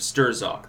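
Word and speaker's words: Strzok: through the recollection of stir Zog there or straw some people pronounce it I don't know I've seen it pronounced both ways I just say stirs off because there's a Z in there and I'm like well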